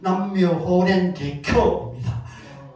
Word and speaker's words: 남묘호: 그래서이 남비 찾아봤어요 제 그 정확한 발음은 남묘호입니다 남호인데 이게 무슨 뜻인가라고